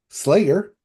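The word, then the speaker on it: Sleigher: Slayer by Ben Folds. Yes, that Ben Folds. And also for the audio listeners, it's spelt like sleigh, like a Christmas sleigh, because this is a Christmas album.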